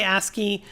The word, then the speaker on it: ASCII: I say ASCII. I think most people pronounce it that way these days.